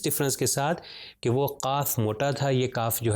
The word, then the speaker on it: قاف: تو یہ قاف جو 2 نقطے والا ہے یہ تھوڑا موٹا پڑھا جاتا ہے، تو اس لیے میں تلفظ ابھی کر رہا ہوں تاکہ ڈفرینشیٹ صحیح طریقے سے ہو سکے.